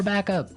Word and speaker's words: backup: point out that here the pronunciation and stress of this phrase is really important hey yes yes you have to say backup backup backup yeah so both words are stressed at about the same level hey backup because if